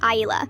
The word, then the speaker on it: Isla: My daughter's name is Isla, pronounced Aila.